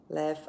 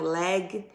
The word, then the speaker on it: laugh: Então, laugh é uma palavra em inglês que mesmo terminando em GH, esse GH eu vou pronunciar como F, ok? Então, a pronúncia aqui vai ser laugh e não leg e não led.